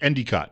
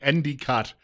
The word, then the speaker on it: Endicott: They pronounced it Endicott. That's the local pronunciation, Endicott, New York.